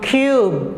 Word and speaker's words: cube: long sound okay but you will not read e because it's silent e this will become cube cube you can hear the sound of letter u okay q cube and also